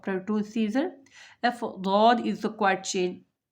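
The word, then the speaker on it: ض: It is called Rod, and Arabic they call Dod.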